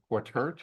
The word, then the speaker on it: Quataert: So tonight, our guest speaker is Professor Eliot Quataert, is that how it's pronounced?